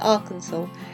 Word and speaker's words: Arkansas: another Stak cross the Big River Bridge to Arkansas if you know why it's pronounced Arkansas and not Aransas let us know